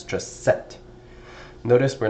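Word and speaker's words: sept: Notice we did not pronounce the p over here. Right? So the p is not pronounced. It's just set.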